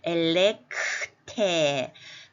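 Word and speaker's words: ἐλεγχθῇ: 그럼 여기서는 뒤에 나오는 엘레크테 이거 발음도 어렵네요. 엘레크테 크테 이렇게 발음하겠습니다.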